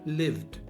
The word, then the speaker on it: lived: lived lived lived lived you got the V sound at the end lived lived that's better